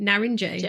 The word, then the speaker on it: Narince: the end which is so crazy that you pronounce that J narinj I think it's a beautiful Nar and J